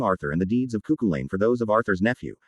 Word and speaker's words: Cuchulainn: The Ulster cycle of the Knights of the Red Branch, which treats primarily of the deeds of Cuchulainn pronounced Cuchulainn, at the court of his uncle Conchobar pronounced Conahor.